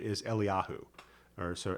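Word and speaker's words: אליהו: the the you know contemporary Hebrew pronunciation of Elijah is Eliyahu. Or so Eliyahu Hanavi and then the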